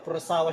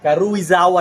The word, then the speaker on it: Karuizawa: At saka yung Ma'am paano ba pino-pronounce yung Crossawa Shirt? Karizawa. Karuizawa shirt. O ayan nabubulol ako o. 'Di ba kinorrect pa ako ni ma'am e gusto ko kay ma'am